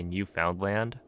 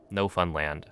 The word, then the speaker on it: Newfoundland: You're not supposed to say Newfoundland. It's like in Newfoundland. No, you like mispronounce every single vowel. I think, if I remember correctly. No Funland.